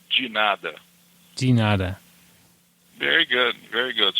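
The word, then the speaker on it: de nada: You you you write in a certain way with the D E and then N A D A. But how you say it, it's a DI for in Portuguese a ginada. So the way you say it will be ginada. Ginada.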